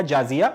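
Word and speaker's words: जज़िया: पड़ेगा जिसको बोला जाएगा जाजिया या जिजिया। जाजिया हम लोग हिंदी में प्रोनाउंस करते हैं मगर उसको लिखा इंग्लिश में जिजिया जाता है, तो जिजिया बोलने जाजिया बोलने बात एक ही पड़ती है।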